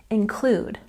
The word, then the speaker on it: include: And 98, include, we've got a stress on the second syllable, include, include.